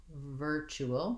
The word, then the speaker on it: virtual: And again, I have this TU saying my CH sound. The IR just says the vowel the sound, so working on ver, and then chew, all. Virtual, long, short, short.